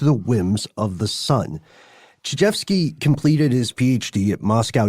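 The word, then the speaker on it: Chizhevsky: I keep seeing this name and I want to pronounce it Tchaikovsky. It's very close. It's Chijevsky.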